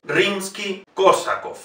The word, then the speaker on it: Rimsky-Korsakov: Nikolai Rimsky-Korsakov. La O, siendo una palabra esdrújula, se pronuncia directamente como Rimsky-Korsakov.